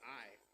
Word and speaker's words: Ai: encounter was I said it was called I uh but a it's spelled AI so uh it had nothing to do with artificial intelligence. It was I and the same token